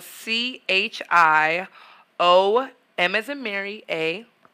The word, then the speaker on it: Chioma: So it's spelled C-H-I-O, M as in Mary, A _.